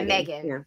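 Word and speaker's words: M3GAN: with the killer doll is that how you pronounce it yeah Megan okay if you haven't caught that one prime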